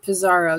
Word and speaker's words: Pizarro: It's Pizaro. Did I pronounce it correctly?